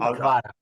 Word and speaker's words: Kvara: In Italy, we call him Kvara. So easy, Kvara. Yeah, or Kvara Donna, as they say on the internet.